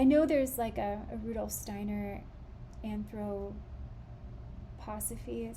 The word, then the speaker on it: anthroposophy: Romero, maybe her name's Romero, yeah, talks a lot about, I know there's a Rudolf Steiner anthroposophy, is how you say it, person named Romero, but this is A.